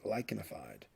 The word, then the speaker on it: lichenified: The CH here is pronounced like a K, lichenified.